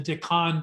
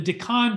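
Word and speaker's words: Deccan: earth there's an area in india called the decon traps d-e-c-c-a-n forgive me friends if i'm mispronouncing this the decon traps this has for a long time thought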